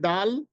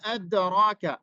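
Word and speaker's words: د: এই যে এখানে খেয়াল করুন, ওয়া মা আদরাকা আদ, এই যে আদ আমরা যে দাল উচ্চারণ করছি সেই দালটার স্থান জিহ্বার আগাটা একবারে সামনের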